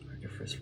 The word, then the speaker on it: Archiphres: Archiphres rhymes with freeze.